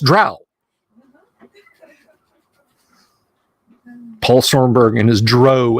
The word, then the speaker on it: drow: Well, I mean, there's only one way that's pronounced, Drow.